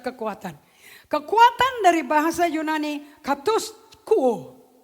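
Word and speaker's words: katischuo: Kata katus kuo, bacanya katus kuo, tulisnya katis kuo.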